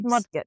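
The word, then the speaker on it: Mudgett: It's Mudget. Right. That's how you say it.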